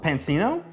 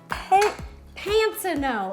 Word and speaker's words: Pansino: show I've been on there like Rosanna pansino and I should know where the emphasis goes on the second syllable basic padula they do